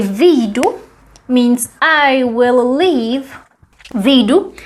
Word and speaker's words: vyjdu: Except when you read it, you would pronounce it as vyjdu. And there you would read the J actually, vyjdu.